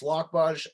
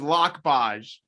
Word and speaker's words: Lokboj: last name for everyone no worries it's lockbox and uh you know in english pronunciation is lock budge i'm from the republic